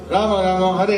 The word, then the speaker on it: Hare: So, Hare of course is the most common word that is addressing the shakti. Each of these are two-syllable words in Sanskrit. Ha re Ha re Hare Hare